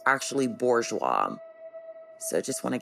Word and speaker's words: Bourgeois: I also want to clarify I believe I pronounce lon's last name as borwa when it's actually Bourgeois so I just want to get that right